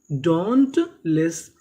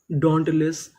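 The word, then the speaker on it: dauntless: डी ए यू इसे पढ़ेंगे डॉ anti डोंट एल E double S इसे पढ़ेंगे लिस। यहां पे एस हमारा दो बार है। पढ़ेंगे कितनी बार? एक बार।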